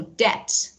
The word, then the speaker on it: debt: another person or organization is debt a b is not pronounced okay so debt and number two let's